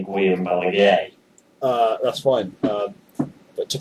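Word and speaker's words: Guillem Balagué: on the whole game in La Liga, to pronounce Guillaume Balagu, you actually say Guillaume Balaguer.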